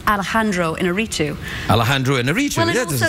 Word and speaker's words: Iñárritu: I'm not exactly sure whether I get the pronunciation right every time, but it's Alejandro Iñárritu.